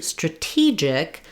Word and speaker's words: strategic: But then when we change to stra-TEE-gic, now my stress falls on the T syllable and the sounds completely change. So instead of an A like in stra-gy, my letter A here is going to be a reduced schwa sound, stra. That's because my first syllable is not stressed and I'm landing on my stressed syllable of T, stra-T.